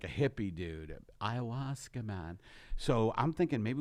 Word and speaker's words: ayahuasca: Just to let you know, it's not pronounced ayahuasca with an H. It's actually ayahuasca without the H sound.